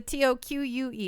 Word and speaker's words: toque: It's with a T-O-Q-U-E. Yeah, it's the correct way to pronounce toque.